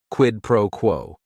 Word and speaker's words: quid pro quo: It is 3 words. Each word is only 1 syllable. And if you're saying it together, the stress is kind of on that first word and that last word, quid pro quo.